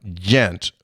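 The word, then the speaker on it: Ghent: I asked the lady behind the counter the correct pronunciation of Gent, and she replied, Gent, with a J sound.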